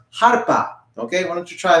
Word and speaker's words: arpa: In Spanish, it's pronounced harpa.